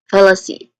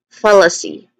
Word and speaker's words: fallacy: Uh, when it comes to pronunciation, follow, there's three distinct sounds here. Starts with F, which is the stressed syllable. It has a short uh vowel sound and then followed by awa sound of awah sound. Here it's a weak and stressed uh vowel sound. And then it ends with c, which has a long e sound.